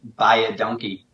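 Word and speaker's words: dankie: the Afrikaans speaking people when you say thank you it's by a donkey and that's how I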